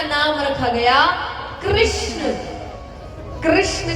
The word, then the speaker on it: कृष्ण: कृष्ण कहने में जीभ घूमती है।